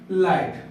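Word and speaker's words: light: अब कुछ वर्ड है जहां पर जी और एस साइलेंट होता है, कहां पर, जैसे लाइट। देखो यहाँ पर इसको एल आई जी एच डी, इसको हम पढ़ते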